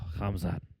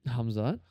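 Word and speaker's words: Khamzat: Kamzat. Hamzat.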